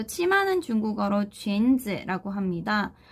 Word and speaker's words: 裙子: 자, 근데 발음하실 때 조금 주의하셔야 되는 단어예요. 앞에 있는 이 쥔이라고 하는 글자가 유라고 적혀져 있긴 하지만 우로 발음이 되는 게 아니라 원래 이 글자는 유땡땡 발음이죠. 그래서 으로 발음되는 거에 주의를 해주시고요.